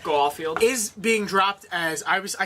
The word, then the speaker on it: Garfield: Andrew Garfield, why did I say it like that? Garfield.